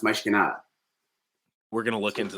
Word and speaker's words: Mas que nada: No, because Portuguese, mas, M-A-S is Spanish, mas. Portuguese, mais is how you say mais, is how it's pronounced, mais que nada.